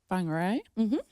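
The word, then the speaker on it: Whangārei: definitely um obviously we all moved up to whangarei um that is correct Amy cocaine was literally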